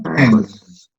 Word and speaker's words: pens: El plural no es con una S. Cuando pronunciamos en inglés, en español nosotros lo leemos como S. Pero en el inglés, este sonido de plural, porque termina en esta consonante, en, está haciendo que la S suene como una Z.